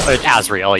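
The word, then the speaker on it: Azrael: and a zazil missions I assume it's a zazil anyway yeah it is well Azriel yeah oh you got the name wrong but no like like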